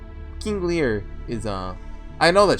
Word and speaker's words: Lear: No, King Lair. King Lear is uh I know that Shakespeare.